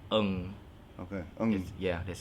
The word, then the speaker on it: Ng: It's a Chinese name. Not a lot of expats out here knows how to pronounce it, but Ng.